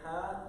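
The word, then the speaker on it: ح: kha, one difference is the ha is pronounced from the middle of the throat, kha is pronounced from the beginning of the throat. Another main difference and major difference is one is pronounced empty mouth and the kha with the dot one is full mouth.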